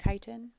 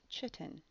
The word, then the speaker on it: chitin: structural polysaccharide is chitin notice how i pronounced chitin it is not chitin chitin is found in